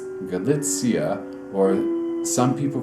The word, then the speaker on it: Galicia: so happens that that 100-year-old man came from galitzia also known as galissa which is also a place further west a bit more pleasant weather no it's galitzia or some people call it Galino gachina as